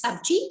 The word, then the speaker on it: sabji: g in hindi is it's known as it's pronounced as subji and in english it is known as vegetables